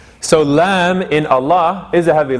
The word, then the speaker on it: Allah: so the lamb so that's why we say allah and not allahu right so we say allahu